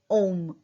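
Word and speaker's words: homme: ओम. H silent रहता है बट यहाँ पे क्या बन रहा है? लिएजो. तो क्या बोलेंगे? अनोम.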